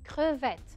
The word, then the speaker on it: crevette: C-R-E, cre, V-E, double T. مجرد ما تشوفوا double T, قولوا انو راح قول E.